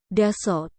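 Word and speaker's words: 다섯: Contohnya, kata hana yang biasanya dilafalkan hana menjadi han, dan kata daseot yang biasanya dilafalkan dasot menjadi das.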